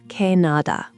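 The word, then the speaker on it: 캐나다: Canada is Canada pronounced kanada.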